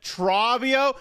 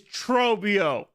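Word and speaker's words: Trobbio: You cannot say it like that. Trabio? No. Nah. Mossbag, I've been with you this whole time. You can't say it like Trabio. No. We can't have that. What the heck, dude? It's Trobio. You don't say it like Trabio. It's Trobio.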